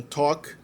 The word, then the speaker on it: talk: E outras 2 palavras têm o L na ortografia, mas não tem na pronúncia, que são talk e walk.